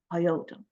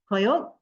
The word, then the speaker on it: coyote: And they named Coyote, the Aztecs of Mexico gave Coyote the name Coyote. So it is pronounced Coyote, Coyote. And there's significance to the name.